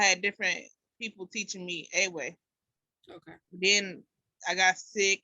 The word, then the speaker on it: Ewe: It's Ewe, E-W-E. I thought the W was pronounced like a V, no? Oh, my bad.